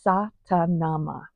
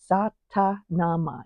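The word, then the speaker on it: Sa Ta Na Ma: and it is called Satanama. Satanama. Each one is just 2 syllables, and I wanted to explain what they are so you know what you're focusing on while you're doing this.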